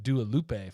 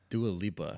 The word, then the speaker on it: Dua Lipa: been titled Fruit Dua Lupe for like ages.